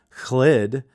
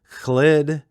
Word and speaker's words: Chlid: This time around, I got the ebook and the audiobook, so I know how to pronounce Chlid. Chlid. It's like you got to pronounce the H a little bit, at least according to the audiobook narrator.